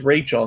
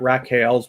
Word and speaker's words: Rachel: Are we pronouncing that right? It is Rachel, not Raquel's Place, right? It is Rachel, just a different spelling.